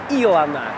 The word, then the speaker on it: Илана: объект очередной свои который называется илана ударение на первый слог здесь будут соблюдены все